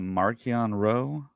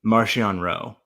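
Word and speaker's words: Marchion Ro: say marchionne as well at least in the audiobooks the official audiobooks is pronounced martian okay okay so yeah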